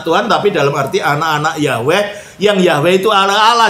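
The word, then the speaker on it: Yahweh: Itu sebenarnya transliterasi dari kata Ibrani yhwh yang bunyinya sering diucapkan yahwe dan kata Tuhan untuk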